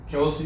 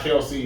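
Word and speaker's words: Kelce: It's not Kelsey, it's Kels. It's Kelsey. People started saying Kelsey, and him and his brother just started going with it, but it's really Travis Kelsey.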